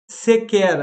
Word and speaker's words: sequer: Então, nesse caso, o QU ali, ele tem som de K.